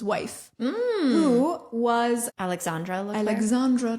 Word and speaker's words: Alexandra: Alexandra. Did I say it wrong? You said Alexander.